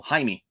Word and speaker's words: Jaime: uh yes this is Jamie Reyes as Blue Beetle Jaime Jaime Reyes let's have been saying his name wrong forever uh but I think